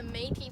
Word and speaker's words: Métis: Many of the Métis people, and yes, that is how you say it, were fur traders, and